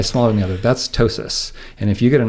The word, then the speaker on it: ptosis: And that's oftentimes somebody had something called ptosis, with a funny word that starts with a P, where the P is silent, but one eye is a little bit smaller than the other.